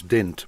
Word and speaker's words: dent: word didn't i think the way we pronounce it in my part of england is dint but it's spelt dent if you watch my